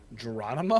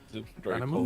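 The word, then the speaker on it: Gerónimo: Geronimo? Mm-hmm. It's probably got an accent over the O, so I'm probably mispronouncing that part. Geronimo.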